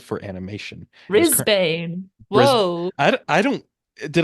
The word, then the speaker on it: Brisbane: And is current Brisbane. Bris Whoa. I don't did I pronounce it wrong?